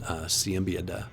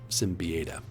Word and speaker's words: Siembieda: You get this art here as well from Kevin Siembieda. I mispronounced that, Simbieda.